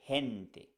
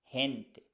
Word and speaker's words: gente: with the word henti Gente has e after G so it sounds like H we say hente hente the same for hitano